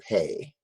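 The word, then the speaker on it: פ: And that's the letter Pei. P-E-Y or P-A-Y, it has a numerical value of 80.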